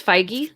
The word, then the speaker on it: Feige: and then you've got kevin feige or fiji how do you say his name i always screw that up it's feige kevin feige i think